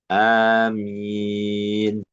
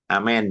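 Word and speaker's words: آمين: Ada yang tadi e mimnya tasdid ya. Nah, yang yang keempat tadi yang imalah yang amen ya. Ngamen jadi ngamen. Nah, itu yang ee banyak dikritisi ya. tidak e para ulama tidak enggak enggak enggak kuat mungkin anu ya ada dasarnya yang yang di yang afsah adalah amin atau amin. Jadi mimnya pakai ee musyadd.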